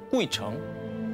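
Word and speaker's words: 鬼城: 다녀가기만 해도 장수한다는 전설을 가진 중국 발음으로 꾸이청, 한자로 보면 귀신 귀자에 도시 성자를 쓰는 그야말로 귀신들의 성, 귀성입니다.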